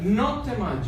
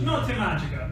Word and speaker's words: Notte Magica: Notte Magica. Notte Magica.